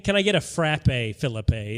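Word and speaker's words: Phillippe: road and uh Ryan Philip is is thank you for pronouncing it the right way and not the fake way he trying to make us say Phillip I'm not saying Philippe no it's no no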